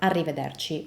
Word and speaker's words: arrivederci: And it's definitely one of the hardest Italian words to pronounce. Why? Because not only we have the R sound, which in Italian is pretty different from the English R sound, but we also have a double R.